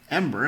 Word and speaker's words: Embr: new body hacks through a wonderful device called Ember. Am I Am I pronouncing it right? Yes. EMBR. The Ember Wave.